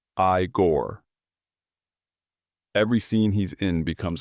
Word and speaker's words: Igor: That's pronounced I-Gore.